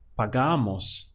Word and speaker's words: pagamos: And then we replace it with mos, and we get pagamos. Remember that this stress happening right before the mos. That's very important so that you can pronounce the word correctly with the right stress point.